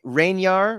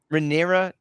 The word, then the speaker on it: Rhaenyra: which I I'm gonna you know I'm gonna mispronounce Rainier rain rain you do it come on you got it what's that rhaenyra renera Targaryen okay so she was again played by